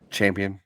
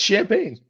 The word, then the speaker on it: Champaign: Champion, whatever it is. No, it's Champaign.